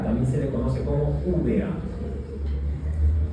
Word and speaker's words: úvea: se le conoce como úvea. Úvea, no uva, úvea. Ya se escribe igual, pero con una E, ¿no?